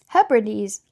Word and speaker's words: Hebrides: Oh, it looks like pronunciation. No, no. Hebrides Hebrides I was saying it right.